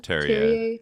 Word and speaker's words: Terje: So the Norwegian diplomat, how do you pronounce it? Terje.